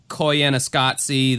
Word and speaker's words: Koyaanisqatsi: films that probably other people haven't seen like Koyaanisqatsi that that into that musical movie that I've